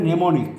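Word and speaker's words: mnemonic: মেমারি হলে নেমোনিক, এমটা উচ্চারণ হবে না।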